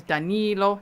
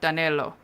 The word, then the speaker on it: Danilo: whole time and say his name is Danilo, not Danelo.